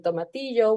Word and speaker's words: tomatillo: of ingredients it has cilantro it has green tomatillo which is like this small um Green Tomato